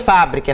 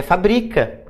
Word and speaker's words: fabrica: Não é mais fábrica, é fabrica.